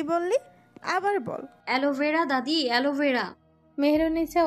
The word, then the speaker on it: অ্যালোভেরা: অ্যালোভেরা দাদি, অ্যালোভেরা। মেহেরুন্নিসা উচ্চারণ করার চেষ্টা করলেন, থেমে থেমে উচ্চারণ করলেন, এলে ভেড়া। এইটা আবার কি? দাদি, এলে ভেড়া না, অ্যালোভেরা।